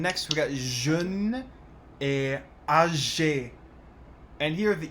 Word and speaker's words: âgé: And next we got jeune et âgé. And here the E doesn't make any pronunciation difference.